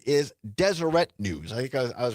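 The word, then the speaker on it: Deseret: Kirk, the Turning Points founder, uh the correct pronunciation is Desireette News. I think I was pronouncing it Desert News.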